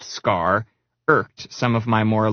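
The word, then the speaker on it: Skaarj: You know, people who condescendingly say the J is silent.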